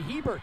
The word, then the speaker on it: Hebert: right but yep and i'll go with the name on the back of his jersey hebert not herbert my apologies a shock